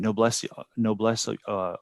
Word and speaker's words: noblesse oblige: Noblesse oblige.